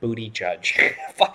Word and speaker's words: Buttigieg: This is literally how you pronounce his name. Look it up. It's captioned Booty Judge.